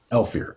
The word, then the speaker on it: Elfir: Elfir. Elfir. Okay. My mind got caught on 3 syllables for some reason.